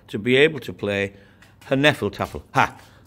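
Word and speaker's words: Hnefatafl: be able to play her nephal tougher path her nephal Tafel georg doesn't tend to pronounce the hitch but i find it a lot more fun her nephal tougher and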